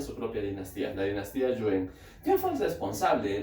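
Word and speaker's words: Yuan: Entonces vamos a hablar de la dinastía Yuen, ¿ok? Escribe con A, se pronuncia con E, ¿ok?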